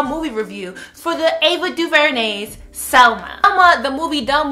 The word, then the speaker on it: DuVernay: So this Smart Brown Girl is dedicated to giving my second Smart Brown Girl movie review for the Ava Duvernay's Selma.